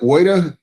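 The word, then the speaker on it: Woida: Is it Voida? W-O-I-D-A, correct? It's pronounced Voida, Your Honor.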